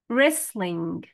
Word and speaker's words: wrestling: board game fishing fishing wrestling W in a silent letter will T silent wrestling wrestling race race